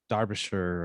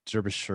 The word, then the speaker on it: Derbyshire: of all who is delia derbyshire or derbyshire or whatever however you want to say it spelled like derby shire um so um so